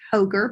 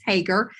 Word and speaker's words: Hoegger: Jackie Hager on LinkedIn now Hagar is spelled h GG R it looks like hoger but it's Hagar but we're all over